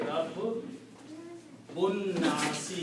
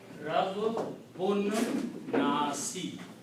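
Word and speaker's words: ربّ الناس: So pronunciation will be Rabbun Nasi. You do not pronounce this alif in between. Rabbun Nasi.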